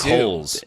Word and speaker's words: Holtz: Nick Holes. There's a silent T in there. Holtz.